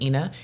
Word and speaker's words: Eanah: walked by and said how are you doing Ina and I was really startled like who knows